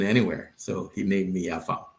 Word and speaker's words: Afam: Most people pronounce it like Adam, but with an F. So that's Afam.